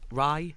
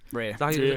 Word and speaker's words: Rey: new Daisy Ridley's character Rey, or Rye. Rey. She keeps changing how to pronounce it. So Rey. It's Rey, the whole thing. It's Rey. Yep.